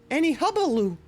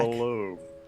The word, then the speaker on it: hullabaloo: I had not heard any hubbaloo. Hubbaloo? Hubbaloo. I think there's more syllables in there. Ah. Oh, they're back. Hullabaloo.